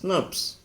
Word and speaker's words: snRNP: SNRPs, pronounced as SNRPs.